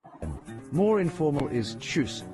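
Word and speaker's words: Tschüss: More informal is choose the ch like the ch in cheese and u like before it sounds like choose.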